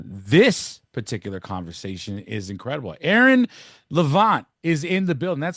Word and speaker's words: Levant: Aaron Levant is in the building. That's how we say it, right? Is that did I pronounce the name Right.